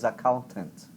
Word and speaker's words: accountant: a mesma coisa account esse aí até a pronúncia foi PR segunda sílaba E aí o final da palavra você fala sem vontade e o tezinho final lá você nem usa corda vocal accountant account accountant accountant